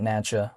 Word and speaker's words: NACHA: Well, it's because if we take a look at Natcha, which is spelled NACHA, that is what governs the ACH network, right?